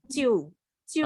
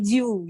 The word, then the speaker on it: 就: Itu J itu ciu kan itu apa pinnya ciu kan. Nah, kalau J itu malah bacanya ciu gitu loh, C. Ciu siang tamen. Nah, bukan baca jiu gitu, bukan jiu.